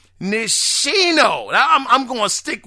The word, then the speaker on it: Nishino: Nishono. God, dog. Read it, people. It is fundamental. You got to use all of the syllables. Nishino.